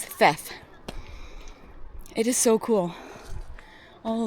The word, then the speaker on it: Theth: so coming from theth I keep calling it teth but apparently they pronounce the the H and the th so it's theft it is so cool